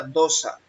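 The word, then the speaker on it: δόξα: La palabra gloria es la G1391, se pronuncia dosa, y significa gloria, glorificar, glorioso, o sea, algo glorioso, algo esplendoroso, algo honroso.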